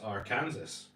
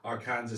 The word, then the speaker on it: Arkansas: Susan saying, lived in Kansas, there is the Arkansas River, pronounced Arkansas. So, What? there is a place in Kansas called the Arkansas. Huh. And then Geezer's Health Trip saying there's also a city in Kansas called Arkansas City, pronounced Arkansas. Well, I'm going to stand by my pronunciation.